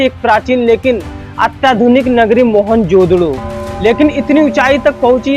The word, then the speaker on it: मोहनजोदड़ो: दोस्तों मोहनजोदड़ो शब्द का सही उच्चारण है मोहनजोदड़ो और सिंधी भाषा में इसका अर्थ है मुर्दों का टीला।